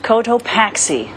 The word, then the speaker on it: Cotopaxi: Mount Cotopaxi.